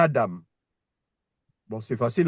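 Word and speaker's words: אדם: Après, euh, on passe à Adam.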